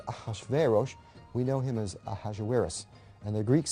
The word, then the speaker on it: Ahasuerus: Well, that was hard for the Jews to pronounce, so they said Ahashverosh. We know him as Ahasuerus.